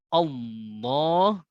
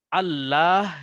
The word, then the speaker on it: الله: Wasallam ketika menyebutkan lafaz Allah, maka lamnya ini ditebalkan atau ditafkhimkan seperti itu. Yang asalnya kalau kaidah aslinya berarti Allah begitu ya.